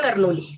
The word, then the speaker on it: Bernoulli: Les puse acá, se escribe, es Bernoulli, se pronuncia Bernoulli, ¿está?